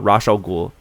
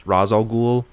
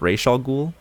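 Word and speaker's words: Ra's al Ghul: keep calling him uh rash al ghul i know that it's razal ghul in the comics but in in um uh i think it's arabic uh it's pronounced ray shaw ghoul oh okay so interesting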